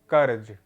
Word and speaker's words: कर्ज: शब्द है ये है, इसमें पहला जो अक्षर है का, फिर है जा, उस पर रेफ का प्रयोग है। ठीक, तो ये हो जाएगा कैसा, कौन, मतलब किस प्रकार का शब्द होगा, या इस शब्द का उच्चारण कैसे होगा, कर्ज।